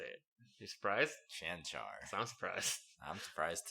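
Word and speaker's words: Čančar: We got to see Vlatko Cancar. That's how you say it. You surprised? Cancar.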